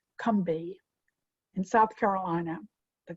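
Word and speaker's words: Combahee: company river collective it looks as though it's pronounced combahi but it is pronounced cumbi in south carolina the kumbi river collective had created a manifesto let's said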